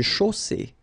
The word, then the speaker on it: chaussée: Une chaussée. Okay, here final E not pronounced, and then you get the double S between two vowels, so it's really strong. I mean, the S is s.